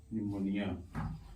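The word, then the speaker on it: pneumonia: साइ य पे लिखा पी एन ई यू एम ओ एन आई ए य प यानी की एन के पहले पया था त भी साइलेंट होगा तो इससे पेंगे निमोनिया तो साइको क्या मन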